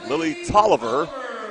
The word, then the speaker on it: Tolliver: Lily Tolliver, that's how you pronounce her name, is a 5'3 freshman, the third starter.